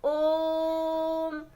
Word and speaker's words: ओम: ओम का उच्चारण कैसे करते हैं, ओम, काफ़ी देर तक बोलते हैं, यानी कि जिसमें हमारी जो उच्चारण है काफ़ी समय ले। जब हम बोले साधारण तौर से काफ़ी समय लग जाए तो क्या कहलाएगा, प्लुत।